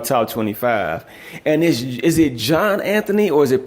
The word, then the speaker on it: Johnanthony: And is it Johnanthony, or is it pronounced differently? It's Johnanthony. It's all one word.